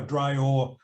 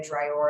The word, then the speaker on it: DRAOR: And there was a question about how Drear acronym is spelled.